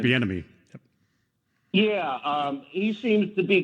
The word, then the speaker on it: Bieniemy: I think the one that caught my eye was Benemini, or I always mispronounce his name. Eric Bieniemy.